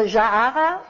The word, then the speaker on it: Jaara: Und das Tolle ist, der Konflikt, den die Hauptfigur, die Protagonistin hat, wie spricht man diesen Namen aus? Jaara? Jaara. Also Jaara, sie heißt Jaara.